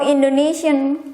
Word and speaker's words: Indonesia: but it's an come foreigner will call my country's name Indonesia but how Indonesian call or pronounce their own country's name including myself is this way Indonesia Indonesia Indonesia Indonesia Indonesian as language again it